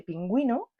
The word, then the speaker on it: pingüino: I tenemos que mirar si la u no tiene puntitos no suena pero si tiene dos puntitos es una forma de decir Oye pronúnciame pronúnciame pronúnciame pronúnciame vale es la